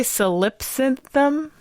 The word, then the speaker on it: Solipsynthm: I'm also terribly dyslexic, so this is solipsynthum. Yeah, that's how I would pronounce it. That sounds right.